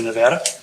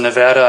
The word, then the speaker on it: Nevada: Left Hillsborough after 6 years to go to Western Nevada College in Carson City, Nevada. And yes, the locals pronounce it Nevada, not Nevada. I got so much grief for the first 6 months I was out there.